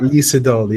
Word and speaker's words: Lee Sedol: Is that Lee Sedol. Yeah, Lee Sedol. And Sedol is actually two two different portions. So it's C and Dol.